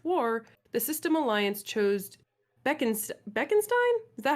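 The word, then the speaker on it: Bekenstein: Given the opportunity to colonize planets after the First Contact War, the System Alliance chose Beckenstein? Is that how we're pronouncing it? Beckenstein.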